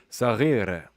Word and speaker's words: صغيرة: هاي أختي صغيرة. Okay, so I'm hearing a little like a almost trilled R, but not completely. هاي أختي الصغيرة. صغيرة. Okay. French R in the back, Arabic R in the front.